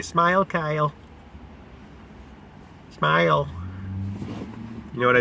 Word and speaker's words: Kyle: Hi, my name's Kyle, rhymes with smile.